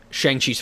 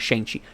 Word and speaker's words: Shang-Chi: Shang-Chi's father. I keep saying it wrong. Not Shang-Chi.